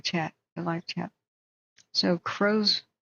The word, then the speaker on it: Crozier: the live chat so crowser is how I heard it pronounced like Crow cros High CR spell